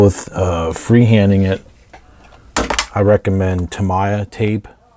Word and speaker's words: Tamiya: If you don't feel comfortable with freehanding it, I recommend Tamiya tape, or Tamiya, I guess some people pronounce it Tamiya.